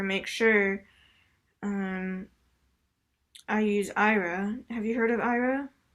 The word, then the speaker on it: Aira: Yeah, so Ira is it's a visual interpreting service. So they so what you do is if you have an iPhone or Android, you can download the Ira app. It's spelled AIRA, and what you do